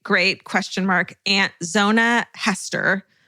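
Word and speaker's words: Heaster: Way back in October of 1896, my great great great {question mark} aunt Zona Hester, pronounced like Easter with an H. Mhm. Hester.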